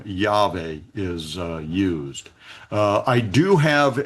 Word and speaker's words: Yahweh: name the way I believe it should be pronounced. So thus says Yahweh, who created the heavens, who is Elohim, he is God, who formed the earth and made it.